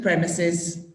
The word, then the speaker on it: premises: yeah okay yeah and the pronunciation is actually premises premises it looks more like a premises but it's not its premises yeah okay the legal